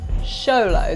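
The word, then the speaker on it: Xoloitzcuintli: name that you'll barely be able to pronounce show low eats queenly there are plenty of ways this pooch is one of the rarest in the world show low that's how you say it yeah show the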